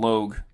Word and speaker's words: Logue: Donald Luge, is that how you say his name? Oh, yeah, Donald Logue Donald Logue, yeah.